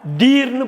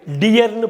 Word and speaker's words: deer: DEER. டீர்னு படிக்கக்கூடாது, டியர்னு படிக்கும்.